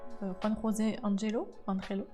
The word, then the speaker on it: Juan José Angelo: Et coucou, Juan José Angelo ou Juan, enfin moi je prononce à l'espagnol. Juan José Angelo.